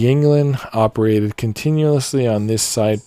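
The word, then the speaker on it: Yuengling: jungling that's funny because some people would just pronounce it youngling it's founder surname and the German term for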